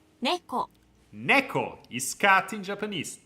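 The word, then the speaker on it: ねこ: the word for cat you already know the pronunciation NE Neco is cat in Japanese Neco Neco see the red is the co Neco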